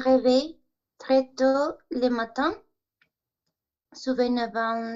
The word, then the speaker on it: souvent: Decimos en general, souvent, la nasal, ok, de manera que no escuchemos la N.